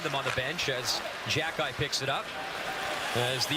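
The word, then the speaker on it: Xhekaj: one of the tougher ones but it is jack guys how you pronounce his last name you have to get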